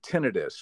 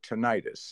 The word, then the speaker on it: tinnitus: including hearing loss and tinnitus or tinnitus I've heard it pronounced both ways but it's the ringing